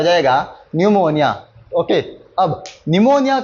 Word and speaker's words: pneumonia: निमोनिया ही पढ़ेंगे। ठीक है? इसकी स्पेलिंग क्या हो जाती है?